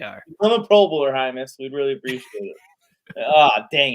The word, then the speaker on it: Hymus: He put it very specifically that it's pronounced Hymus.